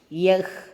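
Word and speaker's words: यह: உச்சரிப்பை கற்றுக்கொள்ளுங்கள்ன்னு சொல்லி இருக்காங்க வஹ் வஹான் யஹ் யஹான் இந்த வஹ் யஹ் வந்து சில பேருக்கு சரியா சொல்ல வராது யக்கு வக்கு அப்படின்னு சொல்லுவாங்க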